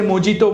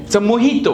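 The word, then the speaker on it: mojito: आपने ये drink order किया होगा पीपल से मोजीतो मोजीतो इट्स नॉट अ मोजीतो मोहितो what is इट पुदीना वालो ड्रिंक जवे मोहितो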